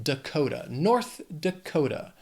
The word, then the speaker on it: North Dakota: Then we have North Dakota, 4 syllables, but Dakota has 3 syllables and the stress is on that second syllable, Dakota, North Dakota.